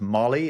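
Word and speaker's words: Mally: c Capuin monkey called Mali. Oh, I think it's pronounced Molly is it doesn't work in my accent. It's like Maul with a Y at the end of it.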